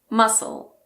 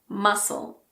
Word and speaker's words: muscle: It's also silent after the S in this word, muscle, muscle.